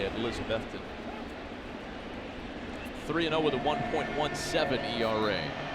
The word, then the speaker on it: Elizabethton: and elizabethton and that's how you say it elizabethton 3-0 with a 1.17 era well you know